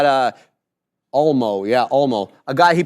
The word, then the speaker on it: Olmo: second half, and it was that Olmo guy, O-L-M-O. Don't know how to say his name. Not really sure how to... Olmo, yeah, Olmo.